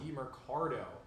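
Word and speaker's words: Demercado: Amari DiMercado. DiMercado, for sure.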